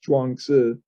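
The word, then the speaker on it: Zhuangzi: u a n g z i but it's pronounced chuangsu correctly in either case that's the one that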